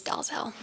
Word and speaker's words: Dalzell: DL, so like the letter D, the letter L. Interesting. Yeah, but the American pronunciation's Dalzell. Interesting.